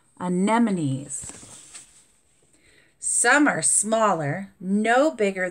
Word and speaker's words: anemones: the loveliest reef creatures are the sea onion anemones anemones that was a hard word to say see how it has the word here anemones and then here it has the pronunciation anemones some are smaller no bigger than a grape